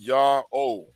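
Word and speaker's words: Ιαω: of the Greek language that can only be pronounced yaho yaho and what tells us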